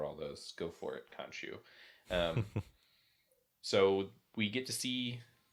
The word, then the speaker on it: Khonshu: head monster, who is Khonshu, how do you pronounce it? Khonshu.